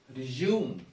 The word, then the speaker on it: resume: or is a verb it is resume resume the second syllable is stressed resume means you start